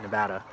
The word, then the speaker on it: Nevada: people have commented on the videos about that nevada so if you have to get evicted here